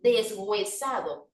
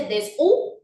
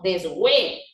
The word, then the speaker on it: deshuesado: ¿Usted dice desu o dice deshue? ¿Usted considera que la H sigue siendo muda o ya cobró cierta sonoridad? Porque ya no digo desu, sino deshue.